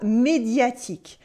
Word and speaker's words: médiatique: Then we have médiatique. Médiatique means relative to the media or well known in the media, especially on TV. Médiatique. In French, the U after Q, le Q in French, is silent.